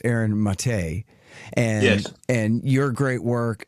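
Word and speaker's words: Maté: uh I never say it right it's Aaron mate and and your great work and I'm forgetting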